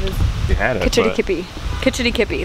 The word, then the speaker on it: Kitch-iti-kipi: Kitch-iti-kipi, that's it.